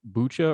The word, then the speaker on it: Bucha: there's been especially in a village called bucha or buca i've heard it pronounced both ways we have some really